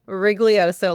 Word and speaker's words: Rigoglioso: Please say your full name so because I'm sure I butchered it. It's Wriglioso.